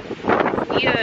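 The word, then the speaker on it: Oia: Fira and Ia. Ia is spelled O-I-A.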